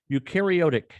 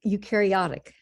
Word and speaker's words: eukaryotic: Louis, where she engaged in research on eukaryotic, did I pronounce that right, Ursula? Almost, eukaryotic.